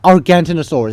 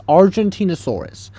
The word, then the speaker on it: Argentinosaurus: So, the Argentina first off, that's not how you pronounce the Argentinosaurus. Um, the Argentinosaurus over here, that's not Argantinosaurus. It's Argentinosaurus.